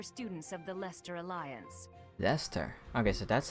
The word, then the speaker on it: Leicester: which is for students of the Leicester Alliance Leicester okay so that's how you pronounce it either was they Chester they sester